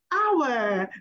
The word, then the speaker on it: hour: we'll be talking about how to pronounce hour don't pronounce the age I said oh God